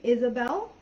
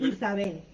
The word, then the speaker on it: Isabelle: it's english or spanish my name in english it's isabelle and in spanish it's isabey okay yeah but either